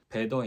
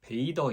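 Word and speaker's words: Bather: 이거는 처음 맡아보는 거거든요 이데 이름이 제가 지금까지 잘못 발음하고 있었던 거 같아요 베이더 인더 레이크가 맞습니다 목욕하는 사람 베이더 그러니까 호수에서 목욕하는 사람이라는 뜻을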